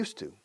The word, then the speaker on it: used to: I'm used to, como el pasado used, pero se pronuncia used to, como el monasterio de Yuste.